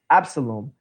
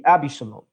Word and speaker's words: Absalom: And this is actually the name of David's son, which in the King James would be pronounced Absalom, but in actual Hebrew would be Abishalom.